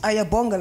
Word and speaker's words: Ayabonga: Well, it's just Ayabonga. Like you just type it as I talk it, like Ayabonga. Yeah, it's phonetically spelled. So if you're, it's not with an I, bro. It's with an A.